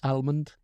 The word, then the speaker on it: almond: cashew Armond thank you a lot of people I know pronounce the L in Armond and I think almond oh I'm not American